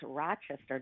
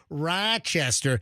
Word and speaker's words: Rochester: Ithaca who was from Rochester. And that's the way he said it. He went Rochester. Where you from? Rochester. No, no, no. It's Rochester.